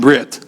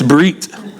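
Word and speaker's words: ברית: The Brit Kaddish, by now it's not Brit, that's from America, okay? It's Brit, Harikyo, spell it B-R-I-Y-T, and then it'll remind you.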